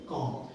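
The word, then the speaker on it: comb: है कोशिश करें ये नियम याद रखें की बी के पहले अगर एम आता है तो बी का पेमेंट नहीं करते हैं क्लियर जैसे यहां पे मैंने और भी एग्जांपल से लिख सकता था पर और भी हम स्पेलिंग देखेंगे उसमें एग्जांपल्स ए जाएंगे बम है ना बम लिखा है पर पढ़िएगा बम जैसे कम लिखा है तो पढ़ेंगे कम ठीक है दूसरा है जी अब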